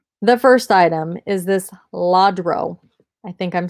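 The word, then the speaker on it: Lladró: first item is this laudro i think i'm saying that right joyful event christian nativity scene jesus jesus porcelain figurine all right so here is the bottom i believe it's pronounced ladro l-l-a-d-r-o and anything that is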